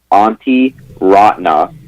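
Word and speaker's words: Antti Raanta: as best i can it's auntie rotna there's a lot of vowels all right it kind of sounds like you're your aunt and you just call her auntie rotna yeah auntie rodney from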